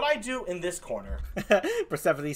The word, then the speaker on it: Persephone: do in this corner persephone says look so long as it's not pronounced purse phone there here here here